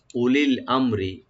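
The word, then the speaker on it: أولي الأمر: ওয়া ইলা উলিল আমরি, উলিল আমরি এখানে আলিফের পর হামজার পর যে ওয়া আছে এটা ওয়াটা উচ্চারণ হবে না, সাইলেন্ট থাকবে।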